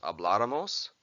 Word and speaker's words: habláramos: Yo hablara, tú hablaras, él usted hablara, nosotros habláramos, vosotros hablaráis, ellos ustedes hablaran. Notice here that the nosotros form has an accent on the vowel before the R.